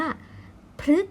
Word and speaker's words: พฤกษ์: นัก เรียน ประสม กับ ตัว พ. พาน ค่ะ จะ ต้อง ออก เสียง เป็น พ ฤ นะ คะ ฉะนั้น ทำ นี้ จึง อ่าน ว่า พฤกษ์ นะ ครับ แปล ว่า